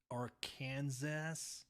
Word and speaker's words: Arkansas: It's actually pronounced Arkansas.